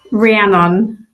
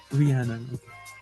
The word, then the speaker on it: Rian: How do you say this? Rian. Rian. Rian.